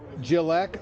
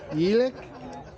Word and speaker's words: Jelek: We're here with the brothers, Jim and Jeff Jalek, although it's Jelek. Is that how you pronounce it? Czechoslovakian. That's right.